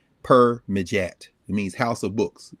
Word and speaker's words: Permedjat: You can, well, yeah, I'll spell it out. It's PERMEDJAT. Per-Mejat.